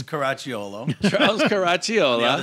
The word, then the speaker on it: Caracciolo: Excited, Charles, because I cannot pronounce it. Charles, tell us your name. It's Caracciolo.